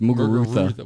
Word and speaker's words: Muguruza: Go to hang on, Muguruza. Muguruza? You don't even pronounce a Z. It's pronounced a TH. Muguruza.